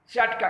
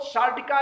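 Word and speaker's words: sciatica: अब आइए सामान्य बात के बाद हम बात करते हैं सियाटिका की। दरअसल सियाटिका को लोग सार्टिका या साटिका अनेक नाम देते हैं, जबकि उसकी स्पेलिंग है SCIA।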